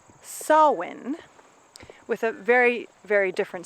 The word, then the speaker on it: Samhain: Celtic history and it is a holiday called sawwind with a very very different spelling it's s